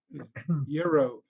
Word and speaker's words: gyro: Yeah, the G is silent. Yep. Gyro. Euro, Yeah, euros.